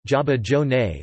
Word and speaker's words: zabaione: Zabaione, Italian pronunciation, Zabaione, or Zabaglione, Zabaione, is an Italian dessert, or